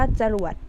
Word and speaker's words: จรวด: รอ เรือ แหวน ดอริก คำ นี้ อ่าน ว่า จรวด นัก เรียน เห็น ไหม มัน มี เสียง อะ เวลา อ่าน จรวด แต่ เวลา นัก เรียน เขียน เนี่ย ไม่ มี รูป ให้ นัก เรียน เห็น